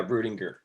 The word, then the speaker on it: Rudinger: worked with alex rudinger is that how i pronounce his last name yeah rudinger rudinger you worked with him